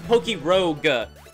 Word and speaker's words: PokeRogue: Oh, this is PokeRogue. So, P-O-K-E-R-O-G-U-E. So, like, rogue. Like, roguelike. Like, the... from D&D. I see what you mean.